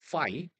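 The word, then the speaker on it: φ: 파이 예 F 발음입니다. 파이 예 우리가 보통 원주율 얘는요 파이예요. 알겠죠? 예. PH 발음은 누구랑 똑같아요? F 발음.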